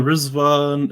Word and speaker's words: Rizván: now it's called Iran, they pronounce their names with a Z instead of a D. So that's where the remix comes from, and they pronounce it Rizván, or when you hear the Persians say it, they're like Rizván.